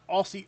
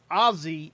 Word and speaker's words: Aussie: know they said most Americans uh missed the pronunciation of it's not Aussie Aussie Aussie it's Azie Aussie Azie like um like aie from Black